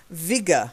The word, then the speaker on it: vigor: The next one is a hard G, vigor, though. Not vi, vi, vigor.